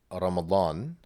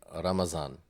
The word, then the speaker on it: Ramadan: And in Urdu, for example, they would say, instead of Ramadan, they would say Ramazan.